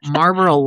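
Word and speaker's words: Marlboro: So, you're just talking like regular cigarettes like Marlo Maro. How do you say it? Marboral Lights.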